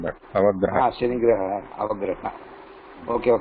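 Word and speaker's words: अवग्रह: Guruji, the name of the sign is called avagraha. Avagraha. Ava or apa? Ava. Avagraha. Ava. Like no, sorry. धन्यवाद. Avagraha. Ava. Avagraha, like Guru Graha, Shani Graha, like that. Avagraha.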